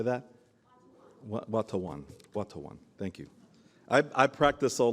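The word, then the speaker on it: Watonwan: Watawan, thank you.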